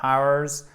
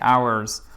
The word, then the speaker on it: hours: faites attention parce que c'est pas hours, non, c'est hours. On ne prononce pas le H, ok? On va mettre une croix ici. On ne prononce pas le H, hours.